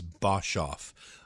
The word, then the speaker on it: Boshoff: his side and and my last name is bosov um and in in South Africa they pronounce it bull oh interesting so it's um